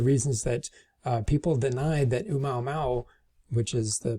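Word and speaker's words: ʻOumuamua: one of the reasons that people denied that Oumuamua, which is the pronunciation of this right here, could have been an extraterrestrial object that visited us in 2017.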